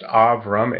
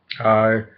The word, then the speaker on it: Abram: The 12th provision was that his name was to be changed from Abram. In Hebrew, it would be pronounced Avram. A and B in Hebrew are the same letters. Avram or Abram to Abraham or Avraham in Hebrew.